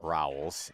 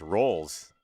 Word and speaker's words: Rolls: It's not Rauls, it's Rolls. And I can remember that because we're playing a game that involves many of those.